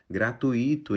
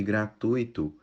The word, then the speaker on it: gratuito: em vez de fluido gratuito em vez de gratuito latex em vez de